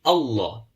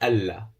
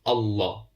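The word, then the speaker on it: الله: of Allah, we said if there's a fatha before it, you pronounce the Lam of Allah with a full mouth. So it will be Allah. It won't be Allah. So you pronounce with a full mouth, Allah.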